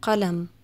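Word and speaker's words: قلم: Then there's qaf, as in the word qalam, pen. This is like a K, but pronounced further back in your throat.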